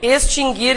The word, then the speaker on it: extinguir: quando nós vimos acentuação esse verbo se pronuncia assim mesmo né extinguir por que que eu estou falando sobre isso porque várias pessoas dizem extinguir É e tem outro que sofre desse mal isso não tem nada a ver com forma ortográfica né gente esses dois verbos nunca tiveram trema porque o u nunca foi pronunciado mas Há muitas